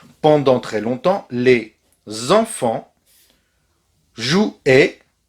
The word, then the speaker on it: jouaient: Pendant très longtemps, les enfants jouaient. Rappelez-vous bien que AI, c'est et.